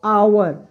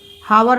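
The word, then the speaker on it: hour: है आवर आवर इसको अगर एच के पहले ओ हो तो हमेशा एच साइलेंट होता है तो क्या पढ़ेंगे आवर आवर आवर मतलब घंटा आ आ रहा है आवर आवर हावर नहीं पढ़ेंगे तो आ से आ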